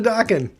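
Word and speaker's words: Dokken: broke the chains dude dawkin rhymes with rockin so i mean it's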